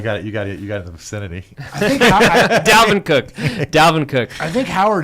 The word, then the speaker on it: Dalvin Cook: what about David Cook? I think that's the best play of the game. Did I say his name right? I think You got it in the vicinity. Dalvin Cook.